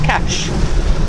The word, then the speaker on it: Kaş: Oh yeah, this is just another hop towards our final destination of Kaş in Turkey. It's spelled K-A-S, but pronounced Kaş.